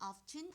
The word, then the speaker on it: often: 거야 됐죠 자 그다음에 often 그리고 영국식 발음은 often 이렇게 됩니다 자 얘는 종종 자주라